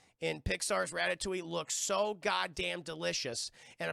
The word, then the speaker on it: Ratatouille: Ratatouille. That's how I'm saying it. That's how it's said.